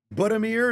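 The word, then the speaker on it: Budimir: Buddamir is how his last name would be pronounced there for Croatia.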